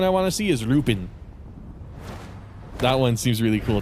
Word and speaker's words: Lupin: Oh, another one I want to see is Lupin. That one seems really cool too. Lupin the Third. Or Lupin. Depends on how you want to pronounce it.